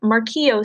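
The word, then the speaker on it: Morquio: of our book Kevin's disease is known as Mark EO syndrome in a circle that since that's in bold pronounced mark EO Rodman describes mark EO syndrome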